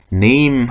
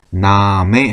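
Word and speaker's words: Name: 영화 단고 똑같이 생겼네요 근데 읽을 때 네임 하고 있지 않고 나메 하고 있습니다 나에 그래서 마나에 그다음에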